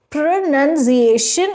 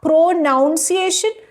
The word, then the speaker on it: pronunciation: Tarur, pronunciation is correct. Interviewer, and not pronunciation? Tarur, it's actually linked to annunciation, which is to speak clearly and it's not linked to pronoun, which is where the confusion comes from.